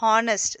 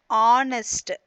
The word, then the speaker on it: honest: It is not pronounced as honest. That is wrong. You have to pronounce it honest. That is starting with the vowel sound a.